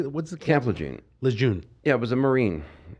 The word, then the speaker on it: Lejeune: Lejeune.